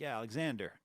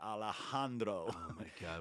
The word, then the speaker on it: Alejandro: an American well and I have to act like I got an accent when I say his name it's weird yeah I